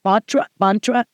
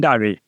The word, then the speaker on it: Bhandari: I can say giant botra, but it's how do you say it? Pandari.